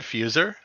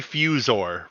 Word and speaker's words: Fusor: It seems like it should be said fuser, but they say Fusor, right? Is that how they say it?